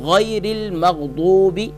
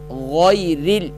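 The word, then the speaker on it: غير: او لام زیر رل، یہاں رل نہیں پڑھنا، یہاں را کو باریک پڑھنا ہے.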